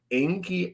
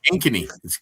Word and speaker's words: Ankeny: Uh Owen Liy Oli out of Enki, Iowa. Oh yeah, Ankeny. She's pronounced.